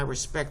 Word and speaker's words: respect: The last syllable is going to be emphasized.